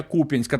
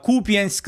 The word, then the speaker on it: Куп'янськ: Ще одна характерна ознака - це фейкові військові неправильно ставлять наголоси у слові Куп'янськ замість я на ку на куп'янськ на Куп'янськ.